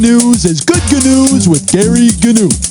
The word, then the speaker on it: Gary Gnu: is good news with Gary Gnu." Gary, don't pronounce the G's.